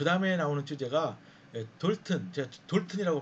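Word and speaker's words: Dalton: 자, 그 다음에 나오는 주제가 돌튼. 제가 돌튼이라고 발음하겠습니다.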